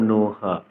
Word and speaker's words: নঃ: আপনারা হয়তো আরেকটি বিষয় লক্ষ্য করেছেন, আমি বিসর্গ এর উচ্চারণ করেছি, অর্থাৎ হ করেছি।